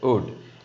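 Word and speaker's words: would: लिखना है, लेकिन we should not pronounce, right? And this will be a wood. It's a wood.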